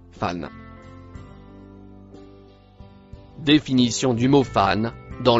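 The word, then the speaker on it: فإن: Le premier mot, rouge, se prononce, fan.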